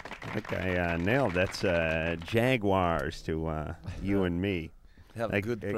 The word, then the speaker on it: Jaguares: And tonight, we'd like to welcome back to the show, Jaguares. Huh? Yeah. I think I nailed that's Jaguares to you and me. Have a good pronunciation.